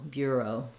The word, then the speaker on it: bureau: your beer and then the letters um e a u this comes from the French they just say the o sound in English and we use that as a diphthong o Bureau so the stress is on the first syllable beer it's going to